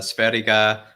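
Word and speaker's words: Sverige: Yeah, with Sweden, with Sveriga, I believe is how you say it in Swedish.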